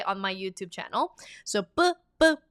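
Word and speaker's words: ㅃ: It's BB. Official romanization is PP, but I'm scared that you will pronounce this as a P. It's not a P. It's a strong B.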